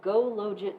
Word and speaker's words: GoLogit: package that is called GoLogit 2. I think the person who wrote it pronounces it GOLogit because it's OLogit in Stata.